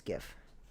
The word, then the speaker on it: GIF: So graphics is a hard G. That's why it's kind of adapted that way. Sure. But when the G and the I are together like that, it's GIF. In this case.